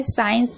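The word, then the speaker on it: science: साइंस में देख रहे हैं एस के बाद सी है तो सी साइलेंट है।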